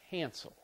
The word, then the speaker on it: cancel: The next verb, cancel. Cancel. Cancel. Cancel. Cancel. I like this one. Cancel is the stress is on the first syllable.